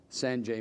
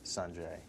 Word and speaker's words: Sanjay: Well, I play this tennis player named Sanjay Gandhi, and actually the pronunciation is Sanjay. What did I say? Sanjay?